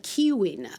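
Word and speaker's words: Caoimhín: character of Home Alone, Kevin is actually originally an Irish name that's pronounced uh Kiwin.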